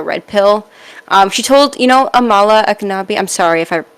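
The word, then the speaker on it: Ekpunobi: She told, Amala Aknabi, I'm sorry if I butchered that name, but from PragerU. I think it's Epinobi. I think the K is silent.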